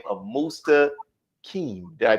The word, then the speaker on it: Mustaqim: So you've been blessed to be bestowed the holy name of Mustaqim. Did I pronounce it right? That's right, Mustaqim. All right, Mustaqim.